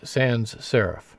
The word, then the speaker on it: sans serif: over here is a Sans serif Sans means without so it's Sans serif that's not proper French pronunciation but that's the way we usually pronounce it in English now there are some